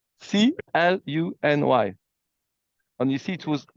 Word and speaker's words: Cluny: the museum you just mentioned, and can you spell it? Okay, I'm going to show it. It's called Cluny. C-L-O-U-N-Y. But here there is a little panel where it's written. So like that you can see it. Cluny.